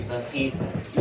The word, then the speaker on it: fajitas: No, it's Mexican. You say fajitas.